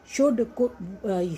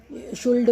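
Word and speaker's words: should: अभी देखो इसमें एल साइलेंट, काम, शुड, शुड, कुड, वुड। जो न्यू बिगनर्स हैं, जो नई नई इंग्लिश सीखते हैं, शुल्ड बोलते हैं उसको, वुल, कुल्ड, या फिर लिखेंगे गलत,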